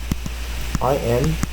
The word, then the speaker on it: impressive: 念 press。One more time, IMPRESSIVE. One more time. Main stress second syllable. Now weak vowel on first and third syllable.